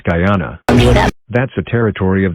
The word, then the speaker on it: Guyana: It's pronounced Guyana.